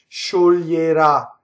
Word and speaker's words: scioglierà: Notice this word, there's a lot of future tense with the accent on the last. So notice the O and the E are going to be closed. Scioglierà, lie, right?